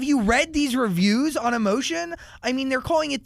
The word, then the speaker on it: Emotion: on new album emotion you can just say it emotion you I I spelled it phonetically but I find a lot of people are being like so your new album emotion I'm like no not really but okay yeah I thought it sound like fancier you know what I